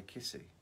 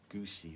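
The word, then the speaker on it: Giusy: ages and ages ago, she told me how to pronounce her name. Otherwise, I'd have been saying Goose, because it's, G-I-U-S-Y. Goosey, or I wouldn't have known it was Kissy.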